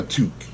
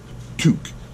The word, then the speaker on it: toque: And in Canada, this is known as a toque. Toque. Yes, a toque. I'll spell it out for you guys.